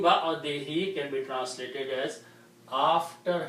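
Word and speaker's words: بَعْدِهِۦ: Now, for the rule of tajweed, when there is a pronoun like this, then we also pronounce this who as he.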